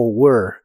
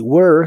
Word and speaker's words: were: En el pasado es was o were. Was termina con el sonido vibrante de la s. was. Y were se pronuncia como were, pero con tu lengua lo más atrás que puedas y suena como monstruo.